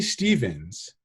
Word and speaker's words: Steffens: I say Stevens, but it's spelt Steffens. And so I know that there's like this Southern thing about like, it's pronounced Stevens, and like, I'm cool with that, but you got to type it as Steffens with a PH.